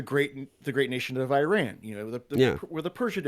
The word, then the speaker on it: Iran: pronunciation button and say us Americans especially US Army vets like to say Iran it's Iran so for future yeah I